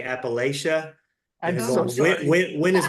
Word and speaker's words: Appalachia: it's Appalachia, and the easy way to remember it is we throw an apple at you.